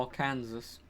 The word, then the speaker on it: Arkansas: remember that's correct arizona arkansas or arkansas as it should be pronounced beans i